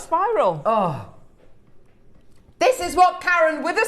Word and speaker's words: Karen: Everyone calls me Karen, but it's pronounced Karen. Right, Karen.